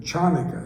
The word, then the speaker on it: Chanukah: celebration of Hanukkah, but sometimes you see it written Chanukah, CH. And that's kind of a peculiarity of moving from the Hebrew language to the English language. And that CH is pronounced, you hear people speaking Yiddish and you've got this strong sound in it.